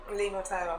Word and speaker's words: levothyroxine: of, you'll have to help me with this pronunciation, levothyroxine? Levothyroxine.